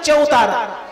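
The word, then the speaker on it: चबूतरा: বেদী সেটা হচ্ছে চবুতারা মানে হিন্দিতে উচ্চারণ হচ্ছে চৌতারা হিন্দিতে উচ্চারণটা হচ্ছে চৌতারা সেটা উনি বাংলায় লিখছেন চবুতারা বলে তার মানে বৃন্দাবনের যে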